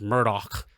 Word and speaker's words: Murdaugh: Pronounced Murdoch. On the Murdoch.